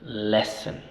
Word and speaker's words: lessen: e e le le y la segunda sílaba es una sílaba débil por lo tanto esa o no suena o sí o suena a suena reducido much le leen lessen porque est una sílaba débil reducimos el sonido ya lessen lessen vamos